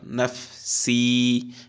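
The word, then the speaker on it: نَفْسِي: ঠোঁটটা কোথায় লাগবে? উপরে দাঁত, দাঁতের মাথা, দুই দাঁতের মাথা ঠোঁটের পেটে লাগবে। নাফ ফা উচ্চারণ করার সময় নাফ। তারপর সিন ইয়াজের, জেরের বাম পাশে জজমযুক্ত ইয়া একালিফ টান, নাফ সি, নাফ সি পড়ুন।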